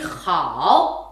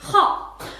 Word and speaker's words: 好: Birinchisi 好，它呢有 2 个读音 ikki xil o'qilishi bor. Birisi hao, yana birisi hao.